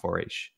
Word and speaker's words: Foraoise: It's spelled it's got like this I think Irish type of spelling to it, but it's pronounced Foraoise.